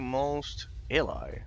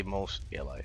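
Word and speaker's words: Mos Eisley: Well people, welcome to Most Eli. I say most Alli most of the time because I think I think it was the original pronunciation or some like that.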